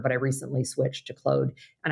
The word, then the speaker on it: Claude: I recently switched to Claude. And I did ask it whether it goes by the French pronunciation or the English pronunciation. It tells me it's the French pronunciation, Claude. versus Claude.